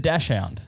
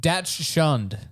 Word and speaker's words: dachshund: you're saying it without a few letters. Yeah, because dachshund. There's no O there. But I think it's pronounced Datch shunned. I would. maybe that's the headline. Dash shunned.